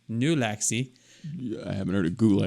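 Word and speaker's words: Nulaxy: well that was anticlimactic nalaxy and n-u-l-a-x-y like like gulaxi but with an N new Lexi I haven't heard of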